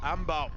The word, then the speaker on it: Amebaw: But, Ambaw. Now, and apparently that's the correct way to pronounce it.